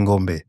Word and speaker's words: Ngombé: Et moi, je m'amuse à dire dans mes masterclass, mon nom, on dit Ngombe, mon nom, c'est Ngombe.